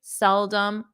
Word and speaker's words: seldom: dum um um so notice the the OM is not a strong om it's um um um seldom seldom seldom and the pronunciation of